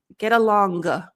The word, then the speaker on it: get along: vowel sound get along the trick is the G is going to stop in your throat get along you should be able to feel the closure here get along long get along long so not a g just stop it here here get along